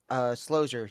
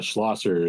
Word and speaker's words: Schlosser: Slosier, do you have a copy? Oh yeah, Schlosser is how you say it. You're close.